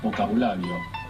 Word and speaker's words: vocabulario: Yeah, there is a grey area between V and B, so it will change between languages. Actually, a very nice example of this is the word for vocabulary. Vocabulary in Spanish is vocabulario. Vocabulario. It's spelled with a B.